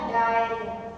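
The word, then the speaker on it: diarrhoea: डायरिया। क्या आएगा? डायरिया, डायरिया। ये स्पेलिंग थोड़ी सी आपको डिफिकल्ट लगेगी। डायरिया, okay, डायरिया। यहाँ पे एच साइलेंट होता है, DIARRHOE, डायरिया।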